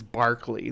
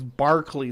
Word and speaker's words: Berkeley: And this is Berkeley. This place is Berkeley Square, not Berkeley.